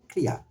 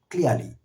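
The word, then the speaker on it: clear: we want sound British আমরা যদি British sound করতে চাই আমরা বলবো ক্লিয়ার ক্লিয়ারলি আমরা যদি আমেরিকান সাউন্ড করতে চাই ক্লিয়ার এন্ড ক্লিয়ারলি similarly ক্লেভার ক্লেভার শব্দটিকে আমরা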